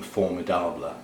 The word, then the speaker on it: Formidable: This has actually got a name, Formidable, French pronunciation.